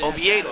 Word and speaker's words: Oviedo: First Oviedo, okay, so that's how you pronounce his name.